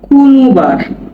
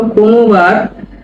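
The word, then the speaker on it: konobar: ভেঙ্গে দিচ্ছি আপনাদেরকে। দেখুন কোনবার এটা হচ্ছে কে ও এন ও বি এ আর ও নোবার হবে কোনবার এটা এটা হল এইটা হচ্ছে এন তাহলে কি হল কোনবার কোনবার মানে ওয়েটার কোনবার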